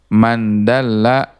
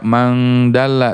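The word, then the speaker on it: مَنْ دَلَّ: Ustadz, kenapa tidak dibaca mangdalla? Tidak, karena ini adalah bahasa Arab ya. Ya, kalau bahasa Arab atau hadis nggak perlu dipakai ininya, nggak perlu dipakai tajwid, bacanya nggak perlu jadi mangdalla, nggak perlu. Kalau kita baca hadis itu cukup mandalla ya, karena itu bahasa Arab, bahasa percakapan sehari-hari.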